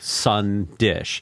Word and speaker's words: Sandesh: you know it's it's it's spelled sandish sandesh but you pronounce it sun dish so it should be